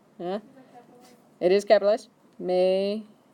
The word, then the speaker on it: Meter: So, you're going to start off with Ich bin ein Meter, like Mater from the movie. Yeah, it is capitalized. Meter, pronunciation.